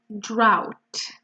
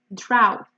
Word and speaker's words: drought: be a drought and focus on the pronunciation to the letters here are all you but your sound is ow drought so you can see